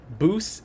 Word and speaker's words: Buce: Aquatic said, Jeffrey said, am I pronouncing Buce wrong? Buce is correct.